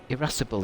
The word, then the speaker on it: irascible: Irascible is how it sounds.